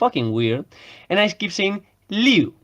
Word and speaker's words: Liu: and ice keeps him Lou because that's how it's pronounced like phonetically properly in Spanish you